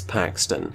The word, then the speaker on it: Paxton: It starts with a P and it rhymes with Craxton, it's Paxton.